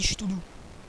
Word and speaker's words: Cthulhu: Enfin, ça s'écrit Cthulhu. Mais on dit Cthulhu. Hein, moi j'aime bien dire Cthulhu.